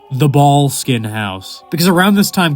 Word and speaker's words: Boleskine: I personally refer to this location by its true Scottish Gaelic pronunciation, the Boleskine House.